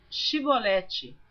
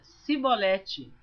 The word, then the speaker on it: chibolete: E então lhe diziam dize pois chibolete porém ele dizia sibolete porque o não podia pronunciar assim bem então pegavam dele e